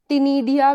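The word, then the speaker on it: ctenidia: Gills जो होते हैं इन्हें टिनिडिया भी बोला जाता है, सी साइलेंट होता है, टिनिडिया भी बोला जाता है।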